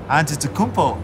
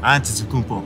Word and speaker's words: Antetokounmpo: We're the only ones that can pronounce our last name. Antetokounmpo. Antetokounmpo. Antetokounmpo.